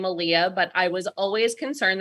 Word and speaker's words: Aaliyah: was always concerned that people would only associate it with the R&B singer so which coincidentally is actually the easiest way for me to explain to people how to say her name so but that's I